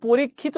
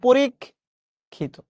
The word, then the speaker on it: পরীক্ষিত: আপনি সহজে মনে রাখবেন কোন শব্দের শেষে যদি ত বা ইত থাকে ওইটার উচ্চারণ সবসময় ও এর মত হবে।